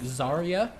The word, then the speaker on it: Zarya: accent they'd be like zarya so or zarya so like the Y makes like an e noise so zarya you see